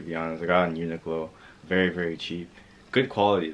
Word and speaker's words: Uniqlo: majority of the stuff is at uniqlo at uniqlo is how you say anyways majority of the